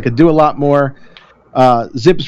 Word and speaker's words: ZiPS: model and that's why zips rhymes with dips cuz it started out